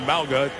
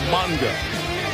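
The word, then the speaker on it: Mauga: there by Josh Monga used to be MAA changed the pronunciation it's now manga back up linebacker for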